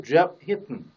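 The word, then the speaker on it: Geoff Hinton: 그 제프 히튼 하면 안 되고 제프 히튼, 혀를 떼지 않은 채 합니다.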